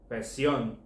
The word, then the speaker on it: versión: over the O to mark that the last syllable is the one that's stressed. Here's three examples. Conclusion, conclusión. Decision, decisión. Version, versión.